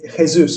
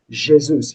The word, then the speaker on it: Jesus: So some people say what is it Jesus or something, but that's the Is it? Spanish way Yeah. of saying it. And then you can be told that the Portuguese way is Jesus.